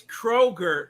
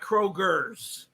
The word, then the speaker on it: Kroger: are trigger calm down it's Kroger not Kroger okay everyone that's it